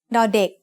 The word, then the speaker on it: ดอเด็ก: As the initial consonant of a syllable, ดอเด็ก makes the sound d, just like the letter D in diamond.